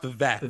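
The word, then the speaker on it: Vivec: It's pronounced Vivek, but I'm not talking.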